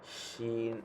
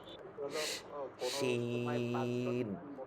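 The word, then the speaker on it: شين: উচ্চারণটা একটু আগে ছিল চিকন, আর এটা হবে তালবর্ষের মধ্যে একটু মোটা, একটু, যেমন শিন আমরা যেরকম বলি শাপলা, এরকম শিন। সিন চিকন, শিন একটু মোটা, সিন।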